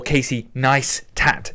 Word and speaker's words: Casey Neistat: It's Casey Neistat, or Casey Neistat, as he was always telling people to how to pronounce it, and so I push forward that